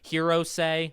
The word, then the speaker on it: Hirose: Hirose, the older man, I'm pretty sure that's how you say his name, although some characters will shorten it.